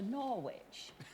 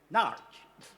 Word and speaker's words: Norwich: No, we were hoping to go to Norwich. Now, which would you say is the best way from here to get to Norwich? The A47 or the A11? Well, first, it's not Norwich. It's pronounced Narch.